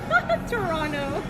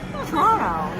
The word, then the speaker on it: Toronto: Well, properly, it's Toronto. But how do for- yeah. For Locals? lazy, Toronto. Toronto. You drop. I Toronto. just say Toronto.